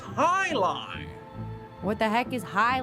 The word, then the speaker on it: jai alai: heck is jai alai it's pronounced Highline what the heck is